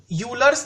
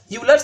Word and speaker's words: Euler: which is called as euler's theorem basically pronunciation is Euler's theorem it is not Euler's which may be lecture when a Euler bilasa but that is wrong the kinetic enunciation is